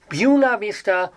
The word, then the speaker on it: Buena Vista: Buena Vista people sometimes pronounce it Buena Vista. I kid you not. Buena Vista, or they just abbreviate it to BV.